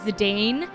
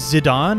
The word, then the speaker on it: Zidane: if i saw it i would read it as the dane but um i've been informed that maybe it's instead of french is zidane a french name maybe that's what we